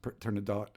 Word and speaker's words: Turandot: Turandot, or sometimes pronounced Turandot, Persian queen.